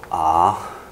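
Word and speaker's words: ཨ: 这一个读作啊，我们先念一下啊。啊，你会发现这个没有子音，有没有？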